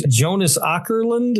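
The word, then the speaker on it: Jonas Åkerlund: Jonas Ourland.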